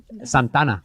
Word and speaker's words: Santa Ana: And so now I'm like, wow, what can I learn from Santa Ana? Am I saying it right? Santana.